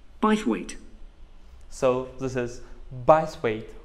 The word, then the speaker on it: Bythwaite: being held in bythwaite hall sorry how'd you spell that b y t h w a i t e by weight so this is bias weight hall that was